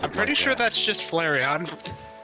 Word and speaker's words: Flareon: is tail so bushy so bushy bushy is flarian tail nay the meal why did TDS pronounce I'm pretty sure that's just Flareon because of my Pokemon's really happy to